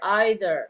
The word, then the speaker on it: either: better eitherok either either either Al right either is the american pronunciation and either is the British ok and then we